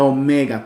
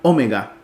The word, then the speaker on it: omega: El Alfa y la Omega como en ópera esta o es una o larga Omega ópera Seguimos entonces